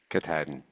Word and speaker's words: Katahdin: How do I pronounce that? Katahdin? Katahdin, yes.